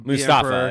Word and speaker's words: Mustafar: a conversation with the Mustafa is actually the name of that P yeah the preferred the preferred pronunciation is must is Mustafa Mustafa but yeah is like